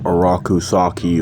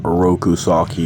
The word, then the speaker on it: Oroku Saki: know Shredder's dope now araku saki or oroku saki however you want to pronounce it the shredder is